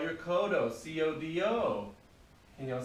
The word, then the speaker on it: codo: elbow called any guesses it's actually called your codo c-o-d-o can y'all say kodo yes very good all right now we're moving